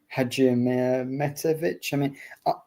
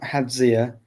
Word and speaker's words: Hadjimetovic: Hadjimetovic, I think, is fine. It's not Hadzia. As long as there's a J sound in there, I think he'll probably appreciate that you're trying to pronounce it correctly, even if I think there's probably an extra syllable that he's adding in there himself. Of course, he knows how to say his own name.